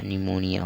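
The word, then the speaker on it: pneumonia: क्या हो गया, निया, निमोनिया हो जाएगा, सब मिला के निमोनिया। यहाँ पर जो पी है पी साइलेंट रहेगा, तो ये ध्यान रखिएगा।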